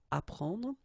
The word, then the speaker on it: apprendre: The first one, ap, so ap, you will get apprendre, apprendre, okay, you don't pronounce the double P, apprendre, so here is what it means, okay, apprendre.